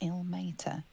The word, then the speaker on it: Ilmater: Dominic Sonny lost himself to addiction, but found peace in Ilmater. Okay, so that's how it's pronounced, okay?